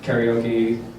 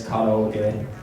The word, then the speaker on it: karaoke: It's not karaoke. Over in Japan, it's karaoke. It's kind of like, whoa, it is really different.